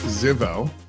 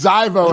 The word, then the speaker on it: Zivoe: I have John and Thor from Ziveo. I just said it wrong, didn't I? Absolutely. We shouldn't have done that. It's Zivoe, and I know it.